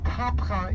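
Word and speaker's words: Tabgha: Let's see, Tapcha is both the Arabic pronunciation and abbreviation of the original Greek word heptagon.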